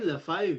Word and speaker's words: Lefebvre: Si c'est Ben Lefebvre, c'est pas l'humoriste. Okay. Tu prononces le B dans ce temps-là.